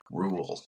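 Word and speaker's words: Roald: Ruled. Ruled. I learned this recently. I always said Rald Doll. Yeah. But that is incorrect because his family is from somewhere.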